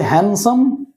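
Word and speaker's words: handsome: কিন্তু আমি যদি বলি হ্যান্ডসাম, হ্যান্ডসাম, হ্যান্ডসাম নয় কিন্তু, হ্যান্ডসাম বলবে না, কেন কি এন এর আগে আর এন এর পরে ডি থাকলে সাধারণত সেটা উচ্চারণ হয় না।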